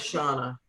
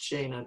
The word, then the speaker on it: Shauna: Oh, and Shauna, which I pronounced Shana, but because I know someone named Shana.